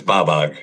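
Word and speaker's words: BOBOG: Oh, it's Babog, baby. Bab.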